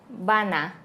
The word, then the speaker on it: van a: vamos a vamos a van a decimos van a van a y esta también se